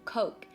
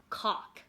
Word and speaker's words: Coke: I remember when I first came to the US, I didn't know how to pronounce the word Coke. Instead, I pronounced cock.